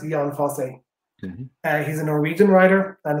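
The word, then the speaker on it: Jon Fosse: book by uh john i call him john foster i think he's pronounced ian fosse he's a norwegian writer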